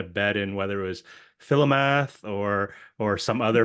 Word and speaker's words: Philomath: We had a bet in whether it was Philomath or some other pronunciation. You looked at us with this look and said, "You're all wrong. It's like pronounced differently." So it's Philomath.